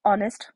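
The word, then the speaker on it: honest: देखिए, dash ऑनेस्ट मैन, यहाँ पर इसकी स्पेलिंग हम एच से लिखते हैं बट इसको प्रोनाउंस ओ से करते हैं, एच इसमें साइलेंट होता है।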